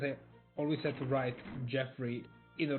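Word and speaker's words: Geoffrey: I was telling Revan how it's actually pronounced Jeffrey, even if it's written G-E-O.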